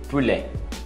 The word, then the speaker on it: poulet: Peito de frango, filet de poulet, filet, não pronuncia o T, de, poulet, poulet ou poulet. Então, depende da região. Poulet, não pronuncia o T também.